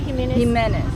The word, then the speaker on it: Jimenez: Jimenez.